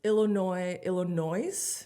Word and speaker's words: Illinois: Like one time I pronounced Illinois with the S.